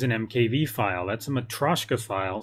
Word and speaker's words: Matroska: That's a Matroska file, spelled Matroska, pronounced Matroska.